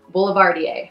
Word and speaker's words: Boulevardier: Boulevardier.